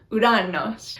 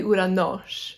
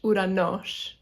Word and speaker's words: Uranos: Sorry, I got the accent on the wrong syllable, so it's actually Uranos. Uranos.